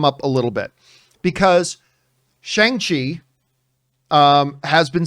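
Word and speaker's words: Shang-Chi: chinese characters would indeed in mandarin chinese be closer to shong just like the name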